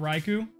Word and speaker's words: Raikou: What about Raikou? Is it Raikou or Raikou? Oh, God. It's Rai, like Raichu. It's spelled exactly like Raichu. So it's Raikou. We don't say Raichu. That would sound like a sneeze.